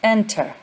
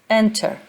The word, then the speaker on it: enter: pronunciation would show that the stress is on the first syllable, not the second syllable.